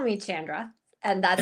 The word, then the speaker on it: Chandra: Please call me Chandra.